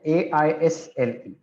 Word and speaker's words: isle: Okay, AISLE. And another word which sounds the same, aisle, it's pronounced the same way.